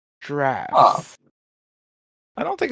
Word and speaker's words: draughts: First game, drafts. Spelled Draughts, often mispronounced draughts.